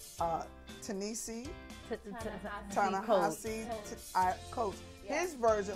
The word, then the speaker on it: Ta-Nehisi: But this alliteration is new, because from what I understand, they're going with, I always say his name wrong, Ta-Nehisi. Ta-Nehisi Coates.